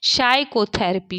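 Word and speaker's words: psychotherapy: में क्या साइलेंट है तो आप लोग देख रहे हैं कि पी साइलेंट है साइकोथेरेपी साइकोथेरेपी हम लोग पढ़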